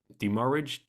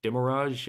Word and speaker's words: demurrage: as well like um how do you pronounce it demurrage di mirage uh yeah demarrage yeah emerge these fees that